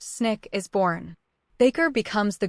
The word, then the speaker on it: SNCC: Out of that conference, the Student Non-Violent Coordinating Committee, SNC, pronounced Snick, is born.